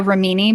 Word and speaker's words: Remini: talking about from leah remini's show i want to call her leah romini because her name is italian and if you speak italian that's how you would pronounce it but everyone says remini anyway yeah i just